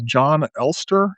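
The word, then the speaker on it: Jon Elster: Um his name is John Ster I think is how you pronounce it. It's e lstr. He's a Norwegian philosopher, but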